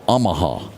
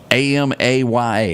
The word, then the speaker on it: Amaya: And I'm not going to be able to pronounce this guy's name, but we're going to call him Miguel Omaha. Is that close? Amya. A m A ya.